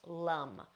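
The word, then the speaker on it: lam: Now each of these is spelled with an A in the middle, so this would look like L-A-M, but in Sanskrit would be pronounced lum. So you would intone lum.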